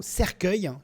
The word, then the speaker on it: cercueil: je le rappelle, s'écrit C-E-R-C-U-E-I-L, cercueil, d'accord, le cueil comme dans cueillette. En fait, on a interverti le U, on l'a mis avant le E pour former le son que.